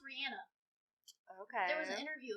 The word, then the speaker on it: Rihanna: was it rihanna's her real name and it's pronounced rihanna okay there was an interview about it no